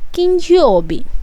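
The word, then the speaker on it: 金曜日: तो फ्राइडे को जापानीज़ में किंयोबी, किंयोबी। एन जो है वो साइलेंट सा करना है, किंयोबी।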